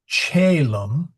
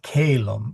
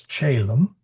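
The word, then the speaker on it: caelum: So chaum, it's not kalum, it's chaum.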